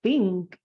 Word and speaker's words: think: Pilas con la pronunciación de esa TH. Recuerda que se pronuncia con la punta de la lengua en los dientes de arriba. Entonces, I hardly ever think in English.